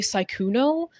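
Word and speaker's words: Sykuno: Um, you can call me Syuno, which is S Y K U N O, which is how you spell it. Or you can just address me by. You know, like the thing that's in the air that you look up at 24/7. Please don't add an E at the end of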